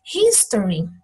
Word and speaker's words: history: History. O H aqui não é mudo. Eu não falo story. Eu falo history.